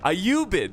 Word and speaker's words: Ayyubid: you bet i'm sorry i'm mispronouncing it i i knew how to say i i you bid ayubid there we go that's what i was going for a ubid forces so